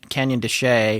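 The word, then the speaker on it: Canyon de Chelly: want to say uh canyon canyon de shea which is spelled c-h-e-l-l-y and also mesa verde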